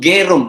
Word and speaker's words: Gerung: Bacanya orang Jawa katanya Bung Rocky bacanya Gerung, padahal yang benar tuh Gerung ya Bung Rocky ya. Susah orang Jawa.